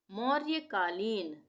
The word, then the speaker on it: मौर्यकालीन: गया मौर्य कालीन मौर्यकालीन यहां पे भी र का आधा उच्चारण होगा य का पूरा होगा मौर्यकालीन म और य के बीच में र आ रहा है ना तो इस अक्षर